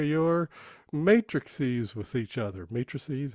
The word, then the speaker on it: matrices: Matrices, that's how you say it.